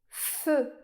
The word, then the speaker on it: feu: On peut aussi écrire le son /ø/ eux avec les lettres E U. comme dans le mot feu.